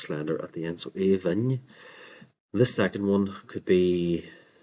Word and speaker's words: Aoibhinn: So Aoibhinn. This second one could be, with modern pronunciation or orthography, this is the one that could be pronounced as Aoibhín.